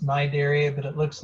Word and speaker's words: Cnidaria: it's a strange word it has a silent c so it's pronounced my dairy but it looks like cannae dairy or something like that